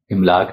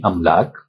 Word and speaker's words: املاک: عرض یہ ہے کہ ان الفاظ کے پہلے حرف پر زبر ہے، زیر سے مفہوم کچھ سے کچھ ہو جاتا ہے، گویا درست تلفظ الف پر زبر کے ساتھ املاک نہیں املاک، اقساط نہیں اقساط اور اضلاع نہیں اضلاع وغیرہ ہوگا۔ ملیں گے ایک نئی